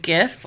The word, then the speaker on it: GIF: do you pronounce it gif or jiff gif i think jeff it sounds like a j it's weird well the creator came out and said that it is pronounced jiff and also sorry for